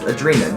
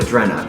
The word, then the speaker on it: Adrenalin: Hi, I'm Adrenalin, and my name is pronounced Adrena, not Adrena, because Adrena rhymes with Jenna, and Jenna's that bitch that bullied me in the 4th grade, and I'm still bitter about it.